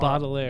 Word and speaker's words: Baudelaire: Yeah, Charles Baudelaire.